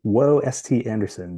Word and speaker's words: WhoaST Anderson: I always pronounce this weird in my head. The @ is WhoaST Anderson, WHOASTANDERSON.